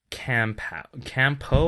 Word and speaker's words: Kampo: Anyway, so this next one is Campo or Campao? Can you spell it? Kampo.